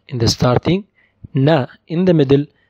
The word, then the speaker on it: ن: Our last letter for today is ن ن. It's like N in English.